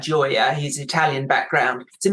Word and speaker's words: Gioia: And there's a very good piece by Ted, I think you say his name, Gioia. I would say it like that, Gioia.